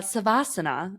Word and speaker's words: savasana: And, uh, savasana is the correct uh, way to pronounce that word.